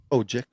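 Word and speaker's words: Odjick: B Gino OIC o OIC how do you pronounce that oji oji okay um c g butcher or D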